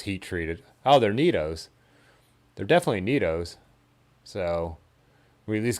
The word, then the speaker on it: Nitto: heat treated oh they're neatos they're definitely neatos so we at least got the brand right there and i know you guys right you've told me the pronunciation is neato not nitto i bet you can